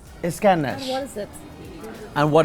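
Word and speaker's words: İskender: How would you pronounce this name again? Iskender. Iskender.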